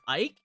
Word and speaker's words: Eike: main character's name is Ike, and it's spelled starts with an E. Ike with E in the beginning. It's like Eike, like bike with Ike, but it's Ike with an E.